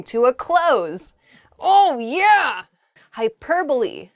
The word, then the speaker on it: hyperbole: a close oh yeah hyperbole hyperbole um it's not hyperbole though it does sound very funny to say that hyperbole just